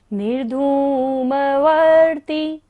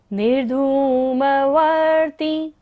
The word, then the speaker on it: निर्धूमवर्ती: निर्धूमवर्तिरपवर्जित तैलपूरः कृत्स्नं जगत्त्रयमिदं प्रगटीकरोषि गम्यो न जातु मरुतान् चलिताचलानां दीपोपरस्वमसिनात् जगत्प्रकाशः निर्धूमवर्ती निर्धूमवर्ती। निर्धूम ध पर बड़े ऊ की मात्रा है, इसलिए इसको हमने लंबा लिया है।